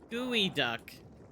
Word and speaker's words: geoduck: Geoduck that Stephie said is pronounced in a weird way that I don't remember. I think it was Stephie. Gooey duck.